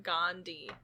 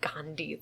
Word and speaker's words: gondii: I don't think it ends in Gandhi, though. It's Gondi. And I'm pronouncing it Gandhi.